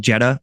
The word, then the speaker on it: Jedha: ambient electronica side project we called Jeddah. You spell it Jedha.